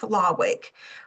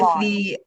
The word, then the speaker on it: Lawing: So Mandy, well, if you want to come off if I mispronounce Keith's name, but it's Keith Lawick with Lawing. It's lawing. Okay, lawing.